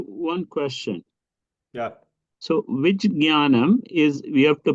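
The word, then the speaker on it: ज्ञानम्: So it has to be pronounced jnanam. Ja, nya together. Jnanam, one after the other.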